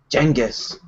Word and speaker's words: Genghis: Genghis.